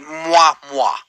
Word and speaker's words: Moi Moi: this correctly, but I'm going to pronounce it moi moi, like that. Is that right? That's the one. Yeah, yeah. It's like the air kiss.